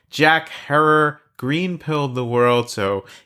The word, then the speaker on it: Herer: If you're thinking we must be talking with the man Jack Herer, rhymes with terror, the Hemperor himself, I've got some unfortunate news for you, which is that he passed away quite a few years ago.